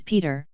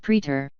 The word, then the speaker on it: Peter: snowman said Peter uncertainly I think you've got my name wrong my name's Peter not preter p t e r